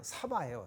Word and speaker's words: 사바: 그냥 사바예요. 사하. 인도 말로는 사하거든요. 사하인데 이게 사파라고 쓰지만 사바라고 우리는 습관은 읽죠. 도장이라고 쓰지만 도량이라고 읽죠. 그렇게 되는 거예요. 도량 읽듯이 사바. 이거 한국식 도법이에요. 그러니까 발음에 충실한 거죠.